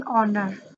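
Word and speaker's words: honour: Okay, next, an ऑनर. ऑनर भी एच से start होता है, लेकिन इसकी साउंड जो है वो ओ है, और ओ साउंड वोवल साउंड है, that is वाई एन ऑनर.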